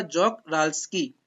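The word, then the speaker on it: Czochralski: इसका प्रोनाउंसिएशन ध्यान से सुनिएगा, जॉक-राल्स्की। क्या है? जॉक-राल्स्की।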